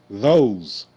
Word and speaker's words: those: th Z those Z those e is silent okay and you see the O the long o sound o o o and the S make the z sound z z z th o z those okay now over there uh